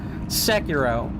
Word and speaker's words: Sekiro: The only game in FromSoft's arsenal that you can swim in is Sekiro. Sekiro, excuse me. Let me get the more American pronunciation here. Sekiro.